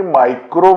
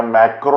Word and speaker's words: macro: आपण म्हणताना जरी मायक्रो म्हटलं तरी ह्या मायक्रो असत नाहीत, ह्या मॅक्रो असतात. ह्याचं स्पेलिंग आहे MACRO, मॅक्रो.